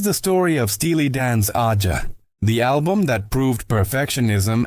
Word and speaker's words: Aja: The album is called AA, pronounced like the continent Asia.